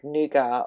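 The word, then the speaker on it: nougat: pronunciation of the word nuga or n good because I live in Australia and we genuinely follow the English pronunciation of things we say noua not nou just like we say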